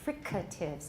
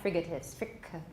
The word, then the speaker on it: fricatives: freedoms of english remember we pronounce that with the aspirated k fricatives not frigates okay the freak freaking